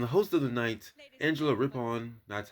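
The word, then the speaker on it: Angela Rippon: And the host of the night, Angela Ripon, that's how you say it. Angela Ripon, was a great choice for the event.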